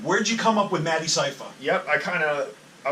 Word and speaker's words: Madecipha: Like I tell people to sound it out. Like it's Madecipha, and it's all one word. But if you sound it out like that, like syllable structure, which is how my whole basis of rapping is syllable structure, that you'll get it. Some people think it's made cypher, whatever, and then, but it's